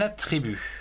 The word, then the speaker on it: attribut: Dans le son U comme attribut, A-T, at, T-R-I, tri, B-U-T, un attribut.